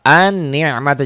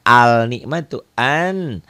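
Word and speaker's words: النعمة: Jadi bacanya langsung ke sidah. An-ni'matu, jangan al-ni'matu. An-ni'matu.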